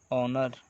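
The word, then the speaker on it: honour: यहाँ पे इसके साथ जहाँ पे एच साइलेंट हो और ए से शुरू हो, जैसे कि एन आवर, ऑनर, ऑनेस्ट। ये सारे वॉवेल्स जैसे अ से ही शुरू हुए लगते हैं। यहाँ पे एच साइलेंट होता है, इसीलिए यहाँ पे हम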